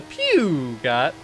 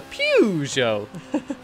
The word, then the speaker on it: Peugeot: gameplay here with the pew got I'm sorry I just said it wrong again the pew show I got the pew part right at least I can